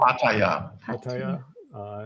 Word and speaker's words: Pattaya: Pattaya.